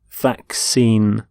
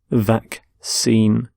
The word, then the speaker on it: vaccine: a disease so vaccine note the pronunciation of vaccine the two c's in the middle the first c is the k sound the second c is the s sound vaccine vaccine and you can have